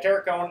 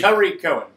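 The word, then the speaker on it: Tarik Cohen: But let's just say right now, for reference, I have Tarek Cohen at number 1, which is not his name. How am I supposed to pronounce it? Tariq Cohen. We're going to learn that one quickly.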